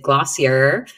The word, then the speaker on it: Glossier: So this is from a company, I guess we would pronounce it Glossier.